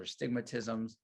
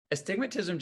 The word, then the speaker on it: astigmatism: a joke amongst optometrists the way people say astigmatism because patients don't know how it's spelled or to say it right so they call it the stigmas or stigmatisms but astigmatism just means it's another